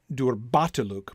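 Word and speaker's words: durbatulûk: fact that pattern catriana would also suggest that the stress should fall on the second syllable right the just as durbatelook bot is the largest stress in the word right and it falls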